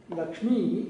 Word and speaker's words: Lakshmi: Lakshmi is actually Dirgha, E. Whereas if you write, if it is written in any South Indian language, it will be written as a short E.